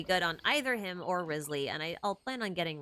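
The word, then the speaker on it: Wriothesley: guy yeah I know his name looks like riath the sleigh but it's actually pronounced reason or Risley I think it's funny that a lot of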